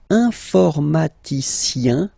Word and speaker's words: informaticien: Alright, and the last group is IEN, informaticien, yin, yin, yin. So that's the way to pronounce this IEN, yin, yin.